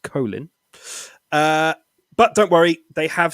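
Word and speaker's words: Kolín: That's pronounced Kolin.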